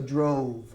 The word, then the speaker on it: drove: Now, look at the pronunciation. I drove with a V. It's almost like move. It's almost like we add an A at the end. Okay? So drove.